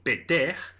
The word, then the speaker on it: Ptah: dios Ptah en egipcio peter, en que el tercer sonido es una aspirada que se pronuncia en la faringe y que no existe tampoco en las lenguas europeas, se escribe con 3